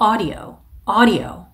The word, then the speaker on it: audio: 오디오라는 발음 말고 audio 이렇게 발음해 주시는 것.